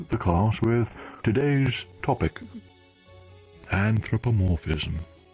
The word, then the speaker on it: anthropomorphism: The lecturer begins the class with today's topic, anthropomorphism. That's how you pronounce it.